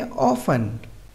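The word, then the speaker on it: often: हमने क्या पढ़ा की एफ के बाद 10 आए तो टी साइलेंट रहता है तो हम इसे क्या पढ़ेंगे ऑफ एन लिसन मी सुनना यहां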